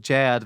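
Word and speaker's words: chè: It's pronounced like jad, but it's kind of CHE with a diacritical.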